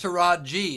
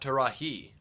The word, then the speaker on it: Taraji: beginning well that's because it's taraji not to rahee well i apologize and